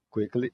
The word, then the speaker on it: quickly: Então, percebam que eu saí de quick adjetivo e montei o advérbio fazendo uma sílaba nova, porque o Y aqui tem som de i, uma vogal.